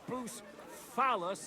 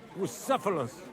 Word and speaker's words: Bucephalus: What kind of name is Bucephilus anyway? It's pronounced Bucephalus, Ishka.